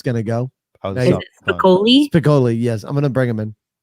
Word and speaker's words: Spicoli: Spicoli. I don't know how we pronounce it, but welcome to the show. You got it right. Spicoli.